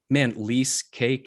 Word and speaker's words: Leasecake: Man, Leasecake. I mean, I love wordplay, rhymes with cheesecake.